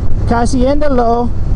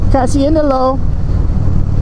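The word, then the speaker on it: kasihan deh lo: Kasiendalo, like make a long S. Kasiendalo.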